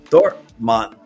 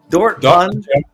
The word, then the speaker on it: Dortmund: That's Lars coming in all the way from Dortmmont. Dortmund. Yeah, I said it right.